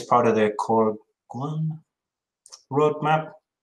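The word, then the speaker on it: Goguen: I think it's part of the Corguan roadmap. I'm not sure how you pronounce that word. Yeah, Gauguin. Gauguin, right, Gauguin.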